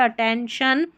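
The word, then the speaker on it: attention: और शन, TION को हमेशा शन पढ़ते हैं, अटेंशन।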